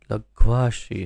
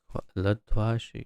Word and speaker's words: लघ्वाशी: लघ्वाशी है, लध्वाशी मैंने कहा शायद, लघ्वाशी। वो इसमें स्पष्ट हो जाएगा शब्दार्थ में। हाँ, लघु आशी, लघ्वाशी। तो उच्चारण में ध्यान रखिए, लध्वाशी ने लघ्वाशी।